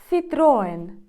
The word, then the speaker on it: Citroën: ми скажемо Citroën Citroën а іспанці говорять Citroën Citroen з наголосом на о і через міжнуф Сітроен